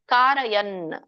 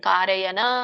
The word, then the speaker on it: ಕಾರಯನ್: ನ ಕೆನ ಇದೆ ಕುರ್ವನ್ನ ಕಾರಯನ್ ಮತ್ತೆ ನಕ್ಕೆ ವ್ಯಂಜನ ಇದೆ ಹಾಗಾಗಿ ನೀವು ಅಲ್ಪವಾಗಿ ಉಚ್ಚಾರಣೆ ಮಾಡಬೇಕು ಕಾರಯನ್ ಕಾರಯನ ಅನ್ನಂಗಿಲ್ಲ ಕಾರಯನ್ ಕಾರಯನ್ ಅರ್ಥ ನೋಡ್ಕೊಂಡು ಬರೋಣ ಸರ್ವ